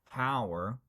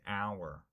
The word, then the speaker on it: hour: Now, pronouncing the H in hour, this is our fifth mistake, H is silent, okay? So, we don't say hour, and we don't say honest if someone is true, okay?